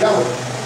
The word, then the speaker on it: Yahweh: Most likely, the most accurate pronunciation is Yahweh.